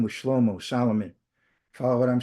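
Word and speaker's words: שלמה: So anyway, so the Hebrew for Solomon is Schlommo. Comes from shalom, peace.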